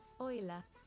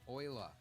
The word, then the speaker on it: Euler: all right cool man Oiler is how we're supposed to pronounce your name but you're dead so you realize I'm going with Eula it makes more sense to me it's got an E and A U and an l and an e r uh no Oiler all right so we